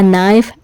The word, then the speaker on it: knife: Without a second thought, बगैर कुछ सोचे, the farmer took a knife and killed the goose. नाइफ में के साइलेंट है.